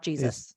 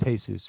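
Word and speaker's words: Jesús: That makes sense though, because Jesus, when spoken in Spanish, is not Jesus. Is Jesus, right?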